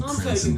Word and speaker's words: Cranston: They meant to type Cranston, but Florida officials may have misunderstood a Rhode Islander pronouncing Cranon Police Department in their famed accent.